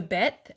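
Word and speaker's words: ב: All right, and then we did the Bet, as makes the B sound.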